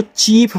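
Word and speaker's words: chief: दे दिया है ऐसे सी एच आई ई एफ देखो आई के बाद ई है तो यहां पे आपको इसको चीफ पढ़ना है क्योंकि दो साउंड निकलते हैं। एक आपका आपका आई निकलता है। एक आपका ई निकलता है।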